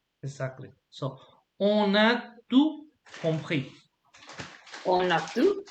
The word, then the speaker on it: on a: So, for example, on pronounce on the we don't pronounce the n if it's all along, but in this particular case you have to, because the next word starts with a vowel. So we say on a.